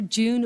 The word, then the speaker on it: Jieun: first speaker um Dr June oh June I asked June earlier how do you pronounce her name and she said June July it's easy so um so there